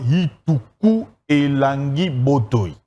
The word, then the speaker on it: Ituku Elangi Botoy: Il faudrait bien prononcer ce nom dans la langue mongo, il faudrait dire Ituku Elangi Botoy.